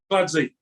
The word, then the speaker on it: Kinkladze: Georgie Kinkladze. Yeah, Georgie Kinkladze.